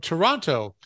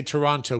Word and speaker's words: Toronto: We don't say Toronto, do we? Well, Toronto. They say Toronto. We say Toronto. You know, we don't, our T's, we kind of just like, we like race through T's.